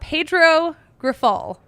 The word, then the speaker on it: Pedro Grifol: own Herb Lawrence, about Pedro Grifol. I think that's how you say his. No, that is how you say his name.